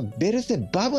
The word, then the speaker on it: ベルゼバブ: としてはベルゼブブというのはまちょっとね日本語の発音にすればベルゼバブの方が近いかもしれないですねうんベルゼバブえ